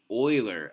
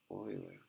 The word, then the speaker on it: Euler: Oh, it's pronounced Euler, I guess. I guess it's German. Oh, okay. Euler.